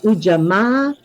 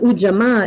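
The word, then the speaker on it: Ujamaa: a or a yeah for most languages the a sound pretty uniformly says Ah okay so U not AMA and I'm saying ah because in kahili well the word UJ is spelled you uh spelled uh u j a m a a so in kiswahili each vowel gets its own pulse so with the two A's being at the end of the word then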